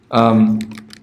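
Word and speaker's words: Armağan: So I do person 1 equals Arman. Actually, we don't pronounce the G. It's a special G with a hat.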